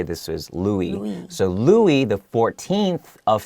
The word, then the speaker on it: Louis: so this word louis l-o-u-i-s in america we would we would say lewis but for you know if it's a french name it would be louis okay pronounced louie and the x i